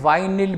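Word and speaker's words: vinyl: ये देखो आप, एक है विनाइल, इसको हम विनाइल प्रोनाउंस कर सकते हैं, वाइनिल भी प्रोनाउंस कर सकते हैं।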